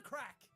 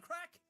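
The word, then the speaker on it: craic: How's the crack? Where's the crack? Cane scale? That's, again, advanced. But how's the crack just means, how are you or what's happening? And it's spelled crack, C-R-A-I-C.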